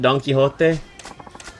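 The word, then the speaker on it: Don Quijote: Isn't Isn't that how you say it? Isn't it donkeyote?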